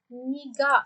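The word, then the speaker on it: 네가: eklenince ise Bakın arkadaşlar burada nega şeklinde yazılıyor ama daha önce de bunu size öğretmişti niga şeklinde okunuyor Tamam Bunlar sanki böyle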